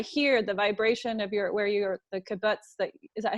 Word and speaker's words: kibbutz: from what I hear, the vibration of the kibbutz, is that how you pronounce it, kibbutz?